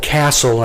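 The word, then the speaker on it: CASEL: learning s-e-l there is a website called castle and that's spelled c a s e l dot org i was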